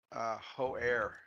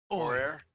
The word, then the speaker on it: Hoare: I've decided that Kevin's last name is pronounced Hoare. I was thinking the H is silent. I think it's or for Ori. Or, Hoare.